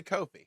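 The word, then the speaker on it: Ko-fi: so yeah no they so they say Kofi that's well the one video of one of their people said pronounce it that way whether it's potato potato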